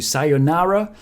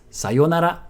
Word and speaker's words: sayonara: But my point is, if you do use it, try not to pronounce it the American way. You might be used to sayonara, but it's sayonara.